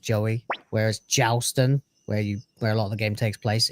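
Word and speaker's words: Jowy: For example, Joey is spelled J O W Y, but it is pronounced Joey.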